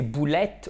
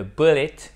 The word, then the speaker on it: bullet: Et si vous prononcez boulette au lieu de bullet, qu'est-ce qui va se passer?